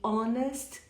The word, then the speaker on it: honest: falamos ao ar e honest sem h pronunciado o resto você viu